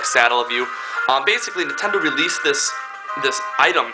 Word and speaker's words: Satellaview: Not many people know how to exactly pronounce it. I'm pretty sure it's like Satellaview.